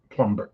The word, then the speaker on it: plumber: word plumber or plumber plumber well it's spelled with a b no one pronounced it I know but